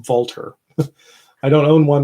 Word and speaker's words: Walther: I guess it's actually pronounced Walter.